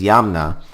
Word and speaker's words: Yamna: They were replaced by a culture that, again, rhymes with Kama, but this is Yamna.